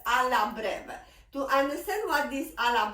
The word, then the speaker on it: breve: That means it's called Alla Breve.